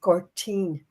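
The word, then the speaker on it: Gortin: Like for instance, the village I'm from is called Girtin. We spell it guard ten. But in the Irish language, it's Gertine. Now gertine. G O R T I for the N.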